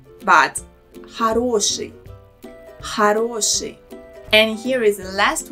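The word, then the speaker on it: хороший: this word is it horoshi first letter o here is pronounced as a also notice how the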